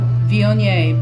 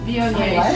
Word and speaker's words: Viognier: Viognier. V-I-O-G-N-I-E-R. It has a lot of consonants in there you don't say.